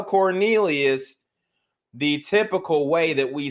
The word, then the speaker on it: Quornelius: Is Quornelius Radford in? It's Cornelius.